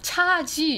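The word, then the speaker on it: 茄子: 있니 그랬더니 있대요 그리고 가지를 중국어로 뭐라고 물어봤어요 발음을 어떻게 하니 그랬더니 차지 이렇게 얘기하는 거예요 그래서 가자 아니야 그랬더니 아니래요 차지 이렇게 얘기를 하는 거예요 그래서 어 그래 그럼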